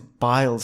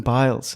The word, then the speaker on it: Biles: And the big talking point is Biles, Simone Biles.